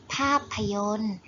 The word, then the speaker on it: ภาพยนตร์: พยัญชนะ 2 ตัว เช่น ภาพยนตร์ เห็น ไหม คะ เด็ก ๆ เห็น ก็ สี แดง ไหม ตัว การันต์ ของ คำ นี้ ก็ คือ ต่อ เต่า กับ รอ เรือ เรา จะ ไม่ ออก